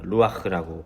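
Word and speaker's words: רוּחַ: 간단하게 설명하면 어 3절에 사용된이 영이라는 단어 루아흐라고 발음되는데이 단어는 어 인간의 생명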